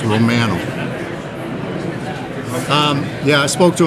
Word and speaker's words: Romano: Dominican so you spoken to Romano yet it's Romano Romo that's how in Canada that's how we pronounce it it's Romano um yeah I spoke to him yesterday um